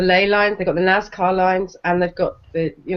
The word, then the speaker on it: Nazca: I don't see that I've got an R on the end. I'm just saying it as Nazca with it's an Nazca, isn't it?